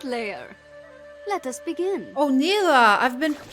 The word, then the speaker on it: Nilah: prepare yourself Joy will not falter I am Nila of the seventh layer let us begin oh Nila I've been pronouncing it the wrong way tell the other